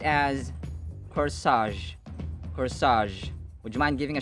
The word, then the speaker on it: corsage: This is pronounced as corsage. Corsage.